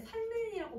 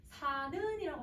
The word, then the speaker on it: 사는: 그러면 여러분 이거 발음할 때 살는이라고 발음을 해요? 사는이라고 발음을 하잖아요.